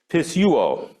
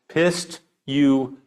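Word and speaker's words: πιστεύω: number 4100 is this word, and it is pronounced pistuo. Pistuo.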